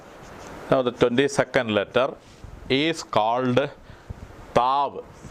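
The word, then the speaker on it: Taw: ഓഫ് സിറിയക്ക Alphabet twenty second letter is called താവ് ടി എ യു താവ് എന്നുള്ളതാണ് ഈ letter താവ് എന്ന വാക്കിന്റെ അർത്ഥം സൈൻ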